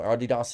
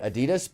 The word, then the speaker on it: Adidas: that's a very low Adidas is a big company which by the way good on you for saying it correctly it drives me nuts whenever I hear people say Adidas because I just happen